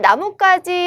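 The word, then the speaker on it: 나뭇가지: 그 다음 나무까지 할 때 우리 발음 어떻게 되죠? 나무와 가지가 만났습니다. 고유어의 결합인데 나무까지 이렇게 소리가 나죠?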